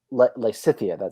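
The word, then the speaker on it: Lysithea: Yeah, Lycithia.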